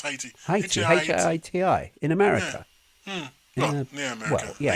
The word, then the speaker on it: Haiti: Hei Haiti or Hi, how do you pronounce Heii? Hi Ti.